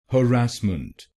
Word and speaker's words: harassment: so we will say harassment harassment. Now you know the correct pronunciation of this word, harassment in British English and harassment in American English.